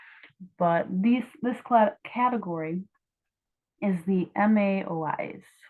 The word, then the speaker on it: MAOI: this category is the MAOIs. So if you pronounce MAOI, it's kind of like Maui, sort of. So I either think like Maui, like the Hawaiian island, or like Maui from Moana. Again, like they all have